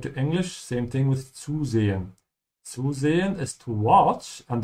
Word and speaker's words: zusehen: And always remember that the Z sound in German sounds like TS.